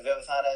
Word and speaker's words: Vivathana: Before I get started, Vivathana, am I mangling your name? No, that's correct. Vivathana is the correct pronunciation.